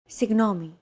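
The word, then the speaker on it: συγγνώμη: romanized like this signomi this character isn't pronounced using an English G sound at all who it's like a very soft continuous and loosely held G almost as if you're gargling but don't make it sound too throaty who there's no such sound in English but most people would transcribe this using the letter G because that's the closest equivalent in English pronouncing it like an English G however would be a huge mistake to get that sound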